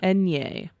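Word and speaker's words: eñe: Do you know how that is pronounced as like a consonant in Spanish? No, I do not. Enye.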